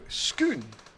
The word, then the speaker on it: scone: this discussion you know scone or scone Etc earlier on and Jake said in Scotland you would pronounce it to rhyme with spoon so schoon and he says my